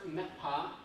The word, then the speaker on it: Me'phaa: So it's pronounced Me'phaa. There's 4 varieties, they all pronounce it differently.